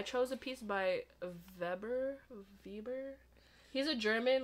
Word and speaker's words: Weber: a piece by verber vber he's a German like it's spelled with a w at first I was like Weber but then my professor was like no it's actually pronounced with a V I was like oh